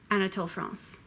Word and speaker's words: Anatole France: de mapa Anatole France ah not Tyler Hans Anatole France Marcel priest MA say host Marcel Proust who